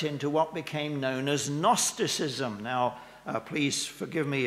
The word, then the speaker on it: gnosticism: c i s m gnosticism that the g is a there's a sort of almost a silent g it comes from the